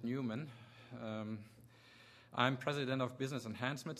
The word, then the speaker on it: Neumann: my name is i pronounce it newman i'm president of business